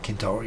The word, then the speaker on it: Centauri: 4.2 light years away, Proxima Centauri, or Centauri if you pronounce it correctly, or Alpha Centauri, it